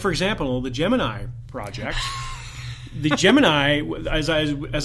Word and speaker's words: Gemini: best topic was that I've been pronouncing Gemini wrong all this time as have I what was it in the movie jiminy jiminy jomini yeah and repeatedly and yeah regardless of where the person was from in the country they all pronounced it that way I don't believe I've